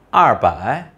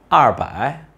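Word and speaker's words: 二百: yang berarti ratusan maka kita bisa memilih untuk membacanya arbae atau liang baik untuk darah Tiongkok Utara lebih sering mengucapkan arbae Sedangkan untuk Tiongkok Selatan lebih sering mengucapkan liang pakai berikutnya kita akan membahas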